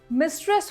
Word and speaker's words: Mrs: university की website पर छपे आर्टिकल के मुताबिक एमी एरिक्सन के पेपर से ये पता चलता है कि मिसेस शब्द का असल प्रोनाउंसिएशन मिस्ट्रेस होता है और कई सदियों तक